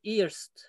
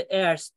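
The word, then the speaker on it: eerst: Genelde bu iyirdir nedense iyirdir ve iyirst kelimesi yanlış okunuyor. Çok duyuyorum. İyi. Çok uzun yıllardan beri burada kalanlarına duyuyorum bunu. Iyirdir veya iyirst. Hani genelde erst diye, erste falan diye duyuyorum.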